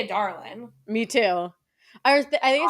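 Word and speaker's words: Adarlan: is the the kingdom and how it's actually pronounced otter land I hate it yeah otland that's how it's like canonically said yeah in in the in the audio books I say Ad Darlin me too I was I say like aderin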